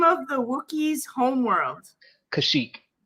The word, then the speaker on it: Kashyyyk: names and stuff name of the wookie's homeworld kashyyyk kashyyyk that's how you spell it k-a-s-h-y-y-k yeah y-y-y-k right okay yeah yeah